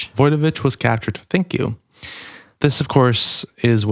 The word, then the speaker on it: Wojtowicz: And then I want to hear the proper pronunciation for you. On August 22nd, 1972, John Wtoich, I have Voyovich.